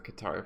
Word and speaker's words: Qatar: Is it because it's the Qatar flag? Wait, is it Qatar or is it Qatar? Badger said it was Qatar. No, well, in Arabic you say Qatar. That's how he actually pronounces it.